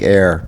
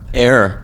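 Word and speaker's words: Éire: They pronounce it, I think, Ayr. Ayr.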